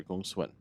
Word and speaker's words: Gongsun: There's even though it's spelled s u n there's a silent w between the s and the u.